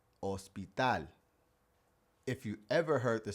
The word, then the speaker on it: hospital: honesto Even English words where we pronounce the H, it would be silent in Spanish. Like the word for hotel hotel or the word for hospital hospital If you ever heard